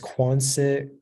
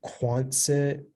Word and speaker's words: Quonset: It can be pronounced Quonset, Quonset, or Quonset.